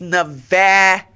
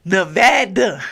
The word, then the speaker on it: Nevada: one one good time it's Nevada okay Nevada not Nevada okay please stop saying that because it is offensive all right just like just like anybody else my pronoun is Nevada okay say it right make sure you say it correctly okay uh but it's